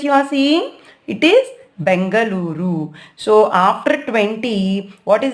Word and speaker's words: Bengaluru: See, before it was Bangalore, but now they have changed our city's name to Bengaluru. You need to pronounce in the same way.